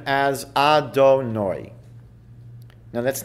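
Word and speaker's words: Adonai: times when we come across God's name we pronounce his name as our donor now that's not what it says but that's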